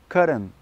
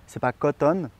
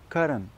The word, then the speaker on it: cotton: Donc répétez après moi, cotton, cotton. Voilà, vous voyez, c'est comme un D très léger, vraiment, c'est comme ça que vous allez prononcer coton en anglais. Donc vous voyez, c'est pas cotton, parce que ça c'est